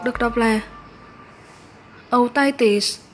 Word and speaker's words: otitis: Danh từ số 1 được đọc là otitis, nhấn âm 2. Và danh từ số 2 được đọc là media, nhấn âm 1. Mình xin nói lại là danh từ số 1 đọc là otitis, nhấn âm 2.